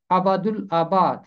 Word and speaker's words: ابد الآباد: آتا ہے ابد الآباد۔ اس کا تلفظ ہے ابد الآباد، ابد، اور اس کو مل کر پڑھیں گے ابد الآباد۔ اس کا مطلب ہے